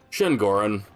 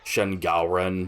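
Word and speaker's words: Shen Gaoren: Shenorin, giantest enemy crab. I think that's actually technically pronounced Shen Galen, but I don't really care first.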